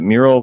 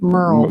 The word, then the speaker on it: Merle: Am I saying that right? Merle. Merle, sorry. Merle. Merle Haggard. Think of Merle Oh, Haggard. Merle. Is that how it's spelled too? M-E-R-L-E. That will help me in my head. I kept thinking mural.